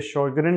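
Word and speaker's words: Sjögren: ये स्पेलिंग इसके ज़रा मुख्तलिफ हैं और बोलने में इसे शोगरेन सिंड्रोम कहा जाता है, क्योंकि इसकी ओरिजिन जो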